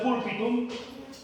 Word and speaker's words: pulpitum: Entonces, estamos presentando un contexto histórico de los teatros romanos y hemos dicho que la palabra púlpitum en latín se pronuncia púlpitum.